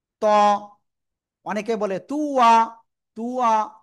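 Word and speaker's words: ط: এই যে এ অক্ষরটা তো অক্ষরের নাম কি ত অনেকে বলে তুয়া তুয়া না জাস্ট জিহ্বার আগা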